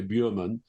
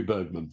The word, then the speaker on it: Bergman: instance Bergman they'll say you don't want to pronounce it correctly because nobody in England will know who you're talking about if you say Berman it's got to be Bergman. So you have to anglicize